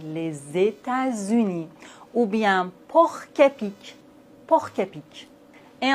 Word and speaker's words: États-Unis: La liaison est obligatoire dans la plupart des mots composés comme par exemple les États-Unis. les États-Unis ou bien porquep porquep